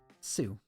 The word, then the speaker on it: Sioux: it's a native american tribe but i can't pronounce it for the life of me sue oh okay so yeah there was a small